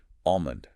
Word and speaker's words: almond: And finally, the biggest one of all, almond. Internalize that silent. If you can master almond, you are well on your way to sounding truly native.